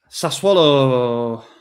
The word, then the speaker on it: Sassuolo: Sassuolo rhymes with problemo.